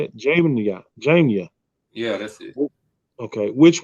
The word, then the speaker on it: Jamnia: Jamnia.